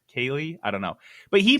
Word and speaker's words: Keighley: Well, it's Geoff Keighley. Like, that's how it's spelled, and I'm supposed to read it Jeff Kaylee? Kaylee.